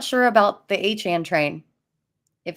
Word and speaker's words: Achane: I'll tell you what, it sounded a lot better when it was Achane train before he corrected everyone and made it Achane train. Yeah, now we got to rhyme with like what 4chan.